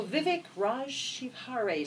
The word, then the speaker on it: Vivek Shivhare: author of Gain More Customers Online, marketing guru Vivek Shivhare. See, I've had enough chocolate that I pronounced it properly today.